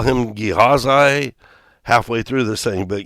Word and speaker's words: Gehazi: I have listened to the pronunciation, and they say, there's different ways to pronounce his name. But for all practical purposes, it is Gehazi. And I will probably call him Gehazi halfway through this thing, but Gehazi.